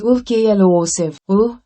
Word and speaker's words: occlusive: The pronunciation of occlusive is OKLOSIV, क्लू and sieve.